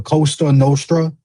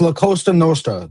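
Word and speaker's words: La Cosa Nostra: Don't be disrespecting my my Italian my my fellow Italians like that saying the Costa Nostra. It's La Costa Nostra. That's how you say it, jackass.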